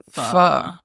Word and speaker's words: pho: I remember I was ordering pho, and the waiter corrected my pronunciation. So it was pho.